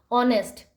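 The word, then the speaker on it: honest: यू आर हार right ऑनेस्ट ऑनेस्ट को बोलेंगे नेस्ट यहां पर एच तो साइलेंट है तो वो आर हो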